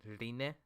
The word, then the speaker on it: Rin: By the way, her name is Rin, so you pronounce the ne at the end of her name. At the end, Rine. Is that what you want me to say, Marcos? Rine? I remember, I think Hawk in a video was like, how am I supposed to say her name? Because some people say Rin, some people say Rin. The show says Rine.